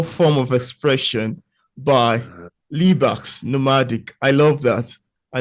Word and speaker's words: Libaax: People have like the X is a hand, Somali. Somali, the language is written in English characters, but it's Mm. phonetically pronounced. Oh, Yeah. So wow. CA would be ah. Ah, XA would be ha.